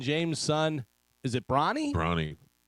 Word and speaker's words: Bronny: Bronny. It's not spelled like the Like paper towel, though. LeBron. Right, Yeah. right. Bronny.